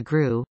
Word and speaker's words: GRU: ever heard of the gru an acronym pronounced like the english word grew yet the military intelligence